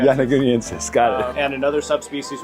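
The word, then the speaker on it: yonaguniensis: That's how I pronounce it, Yanaguniensis. Yanaguniensis, got it.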